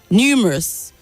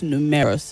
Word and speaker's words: numerous: through and not true numerous the stresses only on the first syllable not numerous okay or numerous but